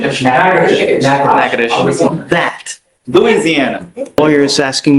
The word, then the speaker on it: Natchitoches: I butchered the pronunciation, but Natchitoches. What is it? Natchitoches.